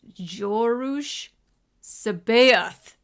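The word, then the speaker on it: Joruus C'baoth: So, it's Jorus Sabath.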